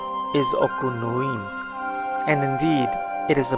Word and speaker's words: Okunoin: the most famous in Japan so the correct pronunciation is aqua Lewin and indeed it is the most famous the